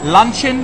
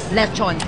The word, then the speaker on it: Lechon: Luncheon, how do you say it? Lechon.